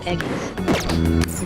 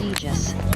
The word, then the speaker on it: Aegis: Why does it say her name like Eggies? Lottie Thotty. Her name is Aegis.